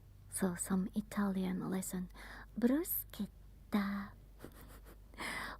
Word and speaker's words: bruschetta: Bruschetta. When you see C and H, it's like a K. Bruschetta.